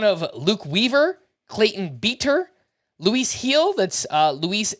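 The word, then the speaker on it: Luis Gil: Yankees uh one of Luke Weaver Clayton beeter Luis heel that's uh Luis g l but it's pronounced Luis heel or will Warren so there are some prospects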